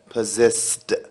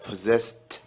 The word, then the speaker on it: possessed: خلي بالك في نطق كلمة possessed، هتقلب الاي دي نطقك تي، وهنا الاس اس تتنطق ز والاس اس تتنطق س، يبقى الاس اس الاولانية ز، possessed خلاص possessed، يبقى possessed.